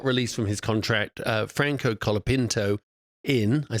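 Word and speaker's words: Franco Colapinto: Logan Sergeant got released from his contract uh Franco kapino in I said it right this time and he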